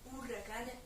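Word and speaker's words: huracán: Donc par exemple le mot ouragan, en espagnol s'écrit H-U-R-R-A-C-A-N. Donc un huracan, pas un huracan. Voilà, un huracan, tout simplement.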